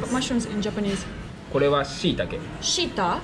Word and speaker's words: shiitake: これは shiitake. Shiita? Shiitake. Shiitake. Mushroom is kinoko. これは shiitake. There are many kinds of mushrooms, right? Yeah. This is one kind, and you call it shiitake.